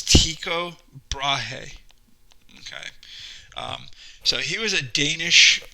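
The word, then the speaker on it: Tycho Brahe: a lot of argument how do you say this guy's name but it's tico brahe okay um so he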